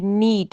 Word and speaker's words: knead: आगे KNEAD नीट, यहाँ पे भी के साइलेंट है, नीड होता है मसलना या गूंदना, मसलना या गूंदना।